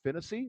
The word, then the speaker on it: Fennessy: It was me, Fennessy, not Hennessy. Rhymes with Hennessy. His name is Fennessy.